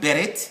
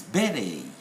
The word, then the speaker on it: beret: For example, this is not beret, no, it's beret, beret. And by the way, in the United Kingdom, we stress on the first syllable. In the States, on the second syllable. Where British will say beret, American will say beret.